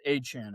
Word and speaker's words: Achane: Etienne is pronounced Achane, apparently.